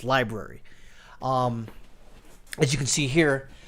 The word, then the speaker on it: LBRY: Looks like LBRY, but it's pronounced library.